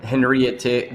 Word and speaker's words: Henriette: Sorry, so we've been saying it wrong indeed, with a bit of a French twang. But Henriette, then it will be